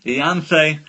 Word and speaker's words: Ianthe: But yes, Danny won with Ianthe. Ianthe, which we learnt how to properly pronounce, is the name of the damsel.